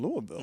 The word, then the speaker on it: Louisville: are going to be a 14-point favorite on Louisville.